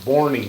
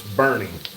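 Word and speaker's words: Boerne: So is it Bernie Texas or Borie Texas? Bernie. It's Bernie, but it's spelled Bernie would be B E R N I E.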